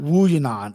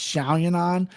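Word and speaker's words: Yan Xiaonan: learn how to pronounce it's not wu yanon it's xiaoyunon different fighter okay it starts with an x bro she's very good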